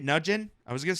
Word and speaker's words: Nugent: Is that how you say it? Nugent? I was going to say Nugget.